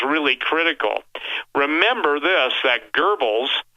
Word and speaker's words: Goebbels: critical remember this that goebbels or some people pronounce it devils but i pronounce the gerbils oe with the umlauts uh and i'm probably